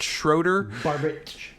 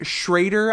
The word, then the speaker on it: Schroeder: fortune by director barbit schroeder could be schrader i've seen s-c-h-r-o-e-d-e-r pronounce traitor sometimes which i don't care for because there's no a involved yep but uh anyway